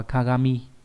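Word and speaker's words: 鏡: gì khó đấy là chữ kính có nghĩa là gương nhé khó đọc là Kagami ở câu này là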